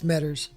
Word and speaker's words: Medders: That's how you say it, Medders. As if it's plural, yeah. Medders. Some people say Medder. Mm-hmm. Yeah, it's Medders. Nothing else matters.